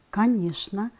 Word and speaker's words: конечно: Очень часто слова «конечно», «нарочно», «скучно» люди произносят с ЧН.